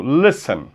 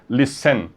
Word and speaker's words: listen: Então, olha o exemplo, listen. O verbo listen termina em CVC, só que a sílaba forte não é essa última, tá?